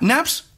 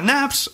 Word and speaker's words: Knafs: marca y es que la palabra naps o la marca naps viene de pronunciar mal knights o con un acento Sureño de los Estados Unidos en el que naipes con v Nights bueno soy español no sé si lo pronunció bien nites se convierte en naps es un dato muy